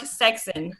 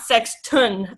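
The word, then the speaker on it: Sexson: The International Order of the Rainbow for Girls was founded in 1922 by Reverend William Mark Sexton, not Sexton, although many people think that's how you pronounce it.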